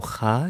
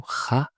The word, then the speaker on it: kha: While ghain, no, there's vibration come from the throat. And also, ghain is more like softer, you know? Kha is more strong. Okay? Kha is more when you pronounce, like when you clean your mouth, you know? When you clean your mouth in the morning, you make kha, right? While for ghain, it's more like vibrated.